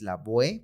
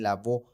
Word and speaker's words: Lavoe: que pronunciar completo no y es la boe porque así se así se está escrito no con todas las letras pero entiendo que veces en muchos lados la e al final no se pronuncia entonces por eso también lavó pero también o